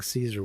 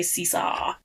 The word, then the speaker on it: Caesar: like because they say King C seesaw seesaw like they're no it's spelled it's spelled Caesar like Julius Caesar in the HBO dub version they say Cesar Cesar Cesar I just found it